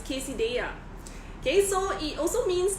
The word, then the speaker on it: quesadilla: have pronouncing it wrongly it's not Casa della but is quesadilla okay so it also